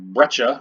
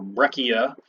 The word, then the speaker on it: breccia: you're supposed to identify it's called breccia or breccia feel free to pronounce it either way and you notice